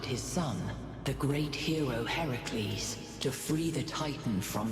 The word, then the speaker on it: Heracles: I do not remember Heracles or for people who don't know Hercules because Heracles is actually how you say it is helping those